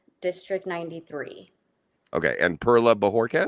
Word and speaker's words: Bojorques: Yes, because not everybody, actually almost nobody knows that J just sounds like an H.